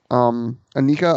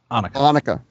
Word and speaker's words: Anneke: especially when it's someone like Anika, I believe is how you pronounce her name. Anneke. Okay. Anneke.